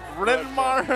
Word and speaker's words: Renar: Renar. It's two syllables.